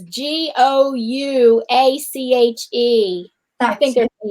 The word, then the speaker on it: gouache: It's pronounced gouache, but it's spelled Gouache. Yeah, I think I probably spelled. Oh, never mind. She's like saying gosh or wash.